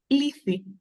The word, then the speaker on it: Lethe: RI River um the river of forgetfulness it's Ley Ley Ley I've been saying Ley Le and Ley it's the same in Greek as one I